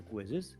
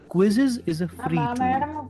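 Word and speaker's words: Quizizz: and has it been its name is also quizzes but the spelling is slightly different it is spelled as q z i z z this is a website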